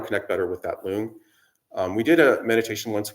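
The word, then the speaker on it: rlung: And then focusing on those two lung, sorry. It's funny how similar the words are. It's actually R-L-U-N-G, so it's just like our lungs. The R is silent.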